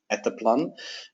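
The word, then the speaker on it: Etteplan: technical documentation services at atap plan at the plan as it's pronounced in Finland where our headquarters are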